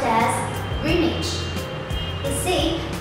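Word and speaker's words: Greenwich: pronounce it correctly too it looks like green and wit but no it is pronounced as greenage you see it's very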